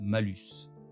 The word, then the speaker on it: malus: en latin, alors que le mot mal se prononce malus.